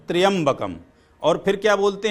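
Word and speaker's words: त्र्यंबकम्: पर आया होती है त्रंबकम लोग बोलते हैं पर यह जो कि मंत्र है त्रियंबकम और फिर क्या बोलते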